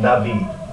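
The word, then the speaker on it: נביא: Okay, in the Old Testament, in the narrative, we have this designation of a Navi, the prophet. Can you spell that?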